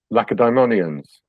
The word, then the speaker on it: Lacedaemonians: What is the correct pronunciation as the experts? Lacedaemonians.